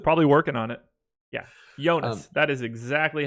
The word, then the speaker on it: Jonas: in all caps but spells it with the y completely unaware that that's exactly how you say his name so congratulations you have